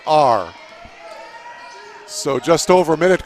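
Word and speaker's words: Ahr: She spells her last name A-H-R. It's pronounced R.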